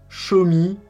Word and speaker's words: Xiaomi: bonne prononciation du mot schumi apparemment en regardant sur internet une vidéo du ceo du président de la compagnie qui explique qu'on doit dire schumi comme montre moi en anglais on est resté sur